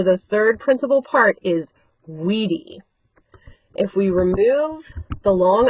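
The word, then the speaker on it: vīdī: Note that the stem vowel that I wid is short in the first two principal parts but then it becomes a long i in the third and the fourth principal parts wedi and whisesis.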